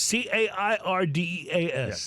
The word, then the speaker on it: Cairdeas: Cairdeas.